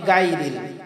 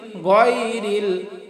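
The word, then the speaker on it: غير: গাইরিল মাগদুবি এইযে এখানে গাইরিল এখানে আমরা অনেকেই পাঠ করি গাইরিল গাইর এটা কিন্তু গা বলে কোন শব্দ কোন হরফ আমাদের আরবি হরফের মধ্যে নেই তাহলে এটা গা না এটা হল গরিল গরিল মাগদুবি আলাইহিম দেখেন চার আলিফটান দলিল দেখেন তিন আলিফ আলাইহিম তাহলে আমরা বলব গরিল বলবো না গাইরিল বলব কি গরিল গরিলমা মাগদুবি আলাইহিম মাগদু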